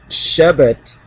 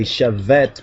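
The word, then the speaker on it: שבט: And let's continue on with Genesis 49 and 10, where it says the Shebet, or some would say Shevet, but that's the Ashkenazi so-called pronunciation.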